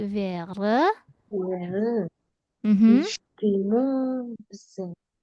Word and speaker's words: wäre: Kalau A umlaut bacanya seperti apa sih? A menjadi E, maka menjadi wäre.